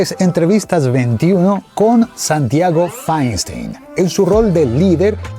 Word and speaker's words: Fainstein: ¿Cómo se pronuncia Feinstein? Así como suena Feinstein.